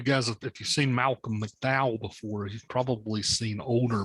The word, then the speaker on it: McDowell: is malcolm um mcdowell i'm not exactly sure how to pronounce it it's pronounced the same way as mcdowell county mcdowell mcdowell and then there's pat